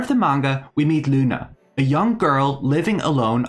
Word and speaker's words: Glüna: commenting about my pronunciation her name is written riuna in Katakana so I'm leaving the G silent for now in any case Luna